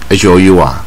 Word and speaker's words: hour: 一个字啊，比如说 hour， HOUR， H 子音可是要用 AN，